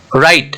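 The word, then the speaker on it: write: टी दोनों consonant है तो यहां पे टी साइलेंट हो गया राइट व आर आई टी आई इसमें व और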